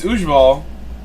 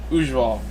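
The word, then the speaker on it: Ujwal: It's Ujval as like a V for the W, and she said it perfectly. I've never heard it pronounced as well as I thought to pronounce it next time. Ujval.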